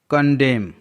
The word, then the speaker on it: condemn: कंडेम, CONDEMN, कंडेम, यहाँ पास M और N दोनों का कॉम्बिनेशन है जिसमें N साइलेंट होता है।